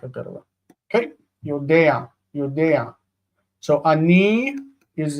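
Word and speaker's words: יֹדֵעַ: We pronounce the ayin with ah. So yodea, yodea.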